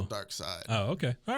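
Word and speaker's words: Darkseid: dark side oh okay is that how you say it I thought it was dark seed dark side is it yeah isn't it spelled like seed like German version no I mean there's no LOF Waffen no no no there's no there's no e on the end but it's still dark side oh okay all right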